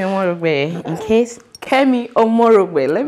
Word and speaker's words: Omorogbe: And I was like, I pronounce it properly. Well, my name is Kemi Omorogbe.